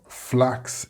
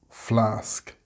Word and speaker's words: flask: You may be saying axe instead of ask, max instead of mask, tax instead of task, or flax instead of flask, and dex or text instead of desk, etc. If you are getting these incorrect results, then you are pronouncing an X instead of the sk sound.